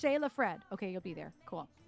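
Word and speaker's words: Sjelefred: It's pronounced Shayla Fred.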